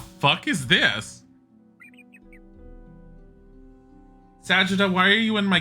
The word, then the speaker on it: Sagitta: suddenly remember good old sagitta and her healing herbs oh so you pronounce it sakita huh what are you